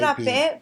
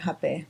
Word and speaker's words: Rapé: It's Rapé, but in Brazil or in Portuguese, the R is pronounced like an H. Okay. So that's why they call it Rapé.